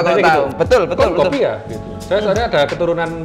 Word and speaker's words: Konkopia: Ini Konkopia bacanya gimana, Mas? Konkopia? Betul sekali, Pak. Bapak kalau tahu. Betul, betul, betul. Konkopia gitu.